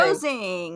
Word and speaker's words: Rosing: pronounced? Rosing. Rosing.